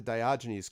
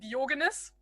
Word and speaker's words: Diogenes: Yeah, because, in English, you pronounce all the names differently. So, it always, because in German, you would pronounce him Diogenes. Diogenes.